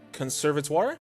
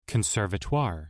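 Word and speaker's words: conservatoire: While asleep, the girl dreams of her time attending a conservator. Conservatire. Oh, I pronounced it correctly.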